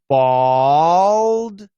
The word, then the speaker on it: bald: pronounce bald and bold that's an aw bald bowl that's an o sound bald and bold me